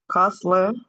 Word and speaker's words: hustle: And we pronounce similarly, castle, hassle, nestle, okay? Castle, hustle, nestle, okay? Remember, we don't pronounce the T.